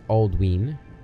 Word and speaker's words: Aldwin: Some examples are Aldwin is pronounced Aldween. Oh, that's where we get Ludween, probably, right? Because of the long vowel sound on the Y.